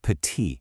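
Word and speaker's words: petit: A super common example is the word pati, which means small. See that T on the end? You just ignore it.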